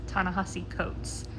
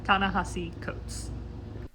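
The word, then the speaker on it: Ta-Nehisi Coates: Between the World and Me by Ta Ni Coats, I I think I butchered that, so I apologize. I'll put in a actual pronunciation, correct pronunciation. Hey guys, I'm editing and I 100% mispronounce that. It's Tanahasi Coats.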